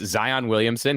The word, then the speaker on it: Zion Williamson: roster Zion's name it when I say pronunciation guide I mean they've got the announcer reading out the names on the website so you can just click and and you'll hear the name it's Zion Williamson he says it that